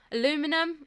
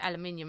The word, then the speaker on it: aluminum: Aluminum, I think that's how you say it. We say aluminium unless that's different.